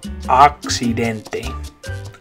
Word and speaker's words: accidente: In English, accident, the A is making like an A sound, accident, but in Spanish it's an A, accidente. Accidente.